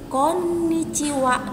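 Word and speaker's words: こんにちは: itu sama yaitu Konnichiwa perhatikan disini ada huruf double N jadi penekanan pelafalannya harus jelas Konnichiwa double lainnya Konnichiwa artinya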